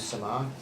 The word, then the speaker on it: Summer: What you are observing is you're calibrating to summer. Summer. Sorry, it's pronounced like the season's just spelled really weirdly.